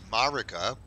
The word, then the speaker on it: Marika: weirdest one really is like the way it's pronounced by voice actors is Marika and these people are going around calling it